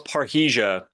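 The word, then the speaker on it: parrhesia: a really good point so what what is paresia is that how you say it yes well it's paresia that was the name of the program I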